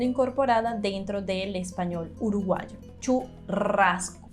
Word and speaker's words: churrasco: dentro del español uruguayo churrasco pero fíjate pronunciación uno de la r vibrando muchísimo y la pronunciación de la s churrasco el ya no se